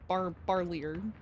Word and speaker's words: Barlier: Barlier. Earlier. Would be how you say it.